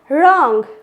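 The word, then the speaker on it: wrong: Next one इज, यदि आर से पहले डब्लू आ जाए, आर से पहले डब्लू आ जाए तो क्या पढ़ेंगे, रॉन्ग, right, rap, wrapper, wrinkle, wrist, तो यहाँ पे क्या है, डब्लू साइलेंट लेटर है।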